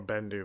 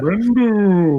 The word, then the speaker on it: Bendu: Bendu. I am the Bendu. He's a big old lion man made of rocks. Was he? Do you know what Bendu rhymes with? But I do.